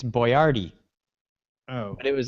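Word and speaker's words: Boyardee: who Chef boardi yes that's approximately how you pronounce it okay it's it's boardy oh it was like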